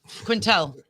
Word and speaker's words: Quintel: wrong what is it it's Barbara Quintel yeah Quintel yes SE yeah love her